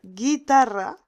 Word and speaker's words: guitarra: Para pronunciar guitarra necesitamos añadir una U en el medio, en el centro, y esa U no la vamos a pronunciar, porque no decimos guitarra.